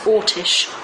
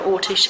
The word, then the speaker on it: Orsic: A lot of people spell it Orsic, O-R-S-I-C. I don't believe it was that. I believe it was Ortish.